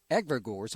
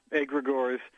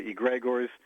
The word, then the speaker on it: egregores: it's greek we say a gregoris although some say egregors uh and then i understand someone said that the second g should be silent as in gnome but we just say